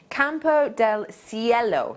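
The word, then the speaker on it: Campo del Cielo: region it's come from so it comes from campo del ciello that's how you pronounce it yellow the last word um and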